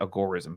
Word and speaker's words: agorism: practicing too much algorithm or i think he pronounces it agorism but i hear i hear both both ways